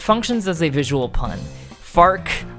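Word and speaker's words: Farquaad: as a visual pun farc rhymes with Mark so the meme functions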